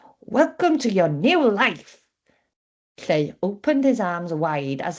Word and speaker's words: Lleu: Hello, my name is Lleu, which rhymes with grey.